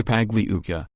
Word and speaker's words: Pagliuca: Sternheim, we are proud to represent Ghislaine Maxwell, me and Christian Everdell, Laura Mininger and Jeffrey Pagliuca, pronounced like lasagna, G silent.